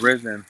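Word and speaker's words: Rizin: Is it Risen? Is that how you say it? Yeah, Risen. Yeah.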